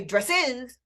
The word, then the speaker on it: dresses: of the time right dress is one syllable but dresses is two and it's unstressed in fact that's part